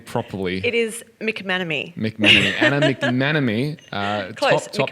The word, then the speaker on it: McManamey: It is McManamy.